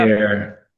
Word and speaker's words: Atelier: Atelier.